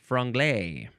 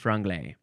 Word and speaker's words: franglais: now dubbed the word franglay sounds like a dessert franapain franapon does not